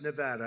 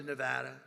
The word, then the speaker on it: Nevada: I want to come to a state known as Nevada. Has anyone ever heard of it? And don't ever mispronounce the name.